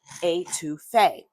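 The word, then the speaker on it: étouffée: It's always pronounced the same, etouffee.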